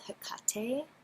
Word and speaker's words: Hypatia: H Y P A T I A C H I A L, but they have a very helpful, pronunciation guide here, Hypatia.